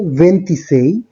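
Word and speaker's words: ventisei: 24 এর ক্ষেত্রে উচ্চারণটা হচ্ছে ভেন্টিকোয়াত্রো, 25 এর ক্ষেত্রে ভেন্টিচিনকুয়ে, 26 এর ক্ষেত্রে ভেন্টিসেই, 27 এর ক্ষেত্রে ভেন্টিসেত্তে, 28 এর ক্ষেত্রে ভেন্তত্তো, 29 এর ক্ষেত্রে ভেন্তিনোভে।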